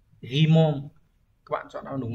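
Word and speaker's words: 疑問: Nghi vấn sẽ đọc là Ghimon.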